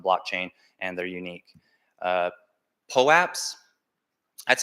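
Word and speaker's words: POAP: represented on the blockchain and they're unique uh pull apps that's how I pronounce it that's how the company that creates some calls it but there's lots of pronunciation lots of people say popes um it just stands for proof of attendance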